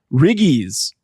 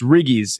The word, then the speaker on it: riggies: you the first one now it is riggies RI GG I I Diana put an apostrophe in there I don't think there is an apostrophe in there we knew how to pronounce it oh okay it's riggies if if you have